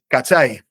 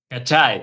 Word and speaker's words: cachái: que estoy diciendo y cómo se dice cachái. Cachy. Ah, cachái. Okay. La la a i al final de muchas palabras también es muy chileno.